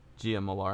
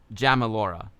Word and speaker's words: Jamalora: You're welcome, Gia Molar. I'm sorry I'm pronouncing your name wrong. Razor liked Pixels very much back then. Nice. It was fun, right? It's pronounced Jamalora. Got it.